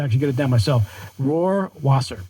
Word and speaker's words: Rohrwasser: Rohrwasser. Rohrwasser. Yeah, it's like the lion. Rohrwasser.